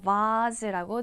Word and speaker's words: vase: vase라고 흔히 알고 있던 영국 발음 vase라고 들렸겠죠? 그래서 꽃병 하나는 vase겠고요.